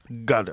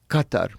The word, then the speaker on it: Qatar: It's called a but So I've heard cutter. It's not cutter. But g you're saying like a g. They use a g sound. Gutter. Other Arabs would call it Qatar with a like a K. Uh, but in the Gulf dialect, it's way down here.Qatar.